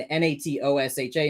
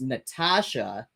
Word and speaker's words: Natosha: my head natosha but it's pronunciation is like the regular spelling Natasha ah okay okay so I'm I'm I'm uh I I'm seeing n-a-t-o-s-h-a and saying natosha but it's actually pronounced Natasha n-a-t-o-s-h-a Natasha all right